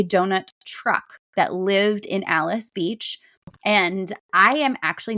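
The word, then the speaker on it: Alys: So Charlie's Delights is in Alice Beach. Alice is spelled A L Ys in case anybody is confused when they're googling that.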